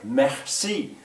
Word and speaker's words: merci: i can ask him what's that middle letter there messi well that's that r that's that french r let's get what it